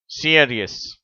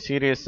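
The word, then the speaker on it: serious: இங்கே கொடுத்துள்ள வார்த்தையை பாருங்கள் சியரியஸ் பொதுவாக இந்தியர்கள் இதை சீரியஸ் அப்படிங்கிறாங்க ஆனால் ஆங்கிலேயர்கள் இதை சியரியஸ் என்று சொல்லுகிறார்கள் அதுபோல கீழே உள்ள வார்த்தை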